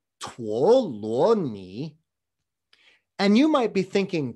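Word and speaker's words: 陀羅尼: by the way folks in modern mandarin these three characters are pronounced tuoloni and you might be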